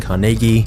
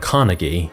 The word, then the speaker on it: Carnegie: Andrew Carnegie was born in Scotland, which is the reason I'm saying Carnegie instead of Carnegie, because this is how the Scots actually pronounce it.